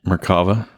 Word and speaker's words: Merkava: Merkava.